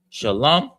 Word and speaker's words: Shalom: Shalom is pronounced, the sha is pronounced by itself. The lum is together. The la and the ma are connected. So it's lum. So it's sha, lum, and then ya.